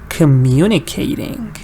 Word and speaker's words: communicating: to say communicating and you have to go really fast after mu because you don't want to wait there if you wait your you will make a mistake so you just want to go just say the MU very strong communicating communicating so now we